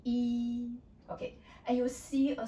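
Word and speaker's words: 一: It's E. It's high pitch. And you need to keep at that high pitch. Cannot go up or go down. The common mistake is like people like to pronounce as E or E or E. Your voice was changing. Then it was wrong.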